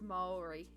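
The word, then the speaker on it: Māori: at pronouncing it basically the a and the O Come Together um yeah it's Maori um and the thing with the Maori language is the vowels that we stop so it's definitely re and it's Mao um but the a is pronounced differently then it's not ah yes oh it's more of an o sound for the a so it's Maori oh all right let's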